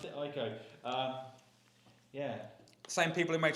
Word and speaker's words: Ico: how you pronounce it? Ico.